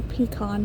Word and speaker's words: pecan: or peacon pie. They say that um the proper way to say it is how your grandma would say it. Well, both of my grandmas, one said pecan, one said peacon.